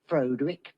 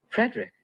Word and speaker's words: Frederick: Do you also say Frodwick? No, Frederick. Well, why isn't it Frodwick Frankenstein? It isn't. It's Frederick Frankenstein.